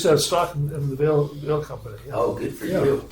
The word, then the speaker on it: Veal: Veal, the Dorothy Visser Senior Center. It's pronounced Vale.